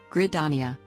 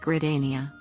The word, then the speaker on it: Gridania: encountered very early on grit dania although the fix for this one was pretty easy just needed to add one letter so it didn't come out like gridania which once again maybe some people say it like that but